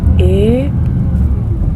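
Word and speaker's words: Aire: it right leads people is it air so Leeds was a city that was built alongside the river air a-i-r-e and in Roman times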